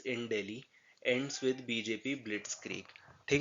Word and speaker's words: Blitzkrieg: ठीक है, इसको आप प्रोनाउंस कैसे करेंगे, इसको आधा तोड़ लेंगे। ब्लिट्स, जो जेड है इसकी साउंड आप एस की तरह निकालेंगे और ये क्रीग हो जाएगा, ब्लिट्सक्रीग।